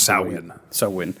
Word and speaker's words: Samhain: It's is Gaelic, so like a lot of Gaelic and like Gaelic languages or Celtic languages don't pronounce things. Samhain.